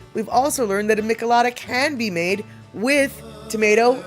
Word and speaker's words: michelada: We learned how to say it wrong and how to say it right.